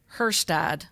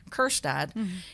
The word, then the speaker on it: Kjerstad: Heston Kjerstad, because I think the K is silent. I could be wrong. If so, it's Kjerstad.